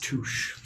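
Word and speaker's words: touché: It's pronounced touche.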